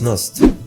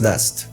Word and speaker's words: Nast: era estamos hablando de Thomas nost Thomas no pronunciación exacta Thomas nast n que le da